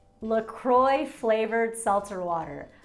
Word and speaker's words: LaCroix: makes it so special lacroix lacroix flavored seltzer water look kroy is how you pronounce it right pita bread where's